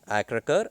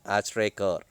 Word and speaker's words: Achrekar: where Ramkant Akrakar, okay, we have two pronunciation for this name, Akrakar and Achrekar, sir, was the cricket